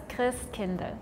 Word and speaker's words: Christkindl: So is the second one like Christkindle? I mean we pronounce it as Chris kind because we don't say Christ, we say Chris.